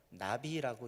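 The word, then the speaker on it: נביא: 우리말로 흔히 선지자라고 번역된 히브리어 단어는 나비라고 읽는 단어입니다.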